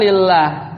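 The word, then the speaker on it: لله: ya ijalabhaka lillah ya bacanya lillah bukan Allah karena enggak ada alifnya ya jadi kalau Allah ketemu lam lam Jar lam Har Jar itu bacanya lillah gak ada alifnya ya tidak ada alifnya jadi bacanya lillahillah jadikanlah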